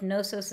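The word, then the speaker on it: Knossos: I love this Echo here they lived on nosos and Knew Too Much of witchery already so this idea of nosos and new we have that K and if you're looking at it in the book nosos is k-n-o-s-s-o-s so that nosos and knew there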